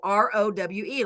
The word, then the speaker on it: Rowe: And then row, Rowe, like row, row, row your boat, but you add the E.